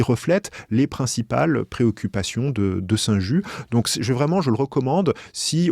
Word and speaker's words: Saint-Just: On dit Saint-Just.